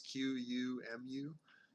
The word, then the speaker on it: Qumu: It's just Kumu. I think you pronounce it. It's Qumu, and he does lots of like video game remixes.